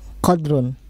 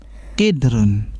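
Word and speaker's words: قدر: Hadihi mil'akhatun wa hadihi qadrun. Kidrun. Kidrun. Iya. Al mil'akhatu fil qadri. Tadi kan kidrun bacanya.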